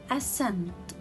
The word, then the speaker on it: ascent: comes after letter s and here i have ascent ascent so here i will not read letter c because it is a silent letter and here conscious conscious i will not